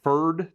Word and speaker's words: Pferd: my personal favorite brush it is the furd that's spelled pferd 8510 it is what's